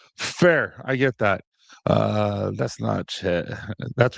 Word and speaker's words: Natchez: Uh that's Nat Chat. That's right, Nat Chat.